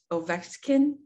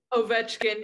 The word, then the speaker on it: Ovechkin: I already know it, but I think it's pronounced Ovechkin. Ovechkin. You're close. Ovechkin. Okay. You got me. Ovechkin.